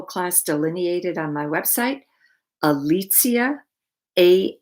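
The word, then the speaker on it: Alicja: delineated on my website alicia a l i c j a alexia jones dot com that's the polish pronunciation and polish spelling of my name so i really love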